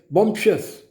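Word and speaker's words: bumptious: अगला है बम्पस, बम्पशस, हम इसको इस तरह प्रोनाउंस करेंगे, बम्पशस, बम्पशस, बोस्टफुल।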